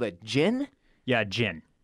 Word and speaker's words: djinn: Yeah, djinn. It's spelled D-J-I-N-N.